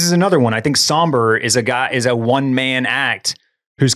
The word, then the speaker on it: SOMBR: Is it spelled like SOMBR or something? It's SOMBR. You got it.